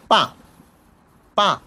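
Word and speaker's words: 八: Five, and then five, পা পা পা, এটা হলো 8, পা পা। এটা কিন্তু বা বলা না অ্যাকচুয়ালি, এটা আমরা সবসময় আমাদের টিচাররা যখন শিখেছে তখন তারা এভাবে উচ্চারণ করে, পা পা।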